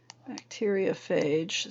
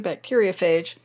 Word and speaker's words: bacteriophage: phage would be let me get a pen bacteriophage spelled like this b a c t e r